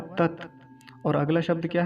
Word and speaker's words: तत्: क्या कहते हैं, तस्यवि, तस्य, तस्य कह देते हैं, तस्य नहीं है, तत्।